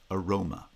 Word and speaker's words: aroma: have words like aroma rho is a tense vowel that's lengthened in a branching nucleus roma the e the the vowel in ma or ma becomes reduced to schwa because it's unstressed roma the pre-foot syllable the the letter a in spelling is also pronounced as a schwa because of vowel reduction aroma in the case of